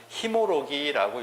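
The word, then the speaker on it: 神籬: 웅신리라고 했는데 웅신리니를 읽을 때 뭐라고 읽냐면 히모로기라고 읽습니다.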